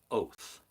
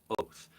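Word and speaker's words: אות: It's pronounced oath. Yep, it's pronounced oath.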